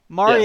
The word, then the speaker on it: Marya: I got like some early access to the stuff like before anybody, and that's because Marya, I did that right? That's how you pronounce it, yeah. Marya Yes.